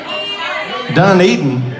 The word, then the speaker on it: Dunedin: I say it right didn't I say Dunedin well y'all are pronouncing that wrong it probably have been